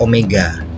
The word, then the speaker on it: omega: Nah, kecepatan sudut dibacanya adalah omega. Jadi kayak huruf W tapi lebih miring, italik. Ini disebut sebagai omega.